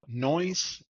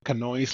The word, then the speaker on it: Knoise: Yeah, it's Knoise, and some people say Knoise, like a knife, the K is silent.